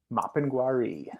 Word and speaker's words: Mapinguari: Mapinguari. Thank you. Yeah, yeah, absolutely. So the Mapinguari, and I might be butchering it, who knows,